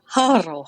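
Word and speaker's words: Harrow: So we have Valja Harkonnen, we have Tuula Harkonnen, and we have Harro Harkonnen.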